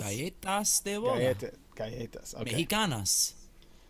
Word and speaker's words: Galletas: Galatas? Galletas de boda. Galletas. Okay. Mexicanas. Yep, like I said, I would have butchered Wedding cookies.